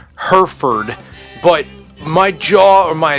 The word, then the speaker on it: Hereford: One quick disclaimer I have to make is the town that I'm going to is pronounced Herford, but my jaw or